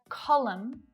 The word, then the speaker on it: column: So just like silent B's, N is silent at the end of a word when it follows M. Dam, autumn, column, hymn, condemn, solemn. You don't hear it there at all. It's not autumn, just autumn.